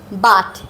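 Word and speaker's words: but: এই কারণে দেখা যাচ্ছে পি ইউ টি এবং বি ইউটি একই টাইপের হওয়ার পরেও দুইটার উচ্চারণ দুই রকম এইখানে আছে বা আ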